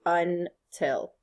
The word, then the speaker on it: until: until are we done what's longer and stronger un or till till is stronger so the accent mark goes on the second part of the syllable the second part of the word all right are we